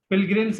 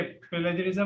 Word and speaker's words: pilgrims: पिलग्रिम्स है ये, प्लेजरिज्म नहीं है।